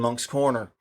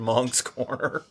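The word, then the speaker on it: Moncks Corner: in fact i've got family in monk's corner uh right nearby yeah well you know what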